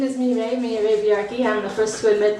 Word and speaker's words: Mireille Villarqui: and her name is Miro my name is Mimi yaki I'm the first to admit that my name is very difficult to pronounce and spell most people when they hear